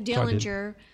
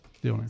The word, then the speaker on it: Dillner: Dillinger was telling him how good one of the popcorns was. Dillner. So a little bit later, did I say it wrong? Yeah, Dillner? You said Dillinger, but Dillner.